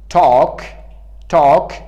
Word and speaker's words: talk: Number 4 talk پیش از K قرار گرفته تلفظ نمیشه.